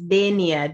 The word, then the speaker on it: Dania: sorry to interrupt you my name is dania d-a-n-i-a my apologies for the pronunciation so that's dania